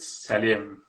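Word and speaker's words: сәлем: We call it salim. It's from Assalamu alaikum, I guess.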